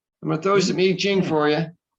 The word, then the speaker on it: I Ching: i'm gonna i'm gonna throw some hai ching for you it's actually quick it's actually pronounced iching i'm gonna throw some eejing for you it's either